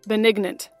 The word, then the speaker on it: benignant: benignant before I but something tells me you should probably pronounce the G although you you wouldn't pronounce it if you were saying benign let's see let's see